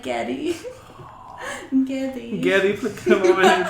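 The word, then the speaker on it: Geddy: Getty Lee's mom is Russian and so his name's Gary, but his mom pronounced it like Getty.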